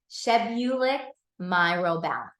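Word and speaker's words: chebulic myrobalan: Shebbulic myrobalan.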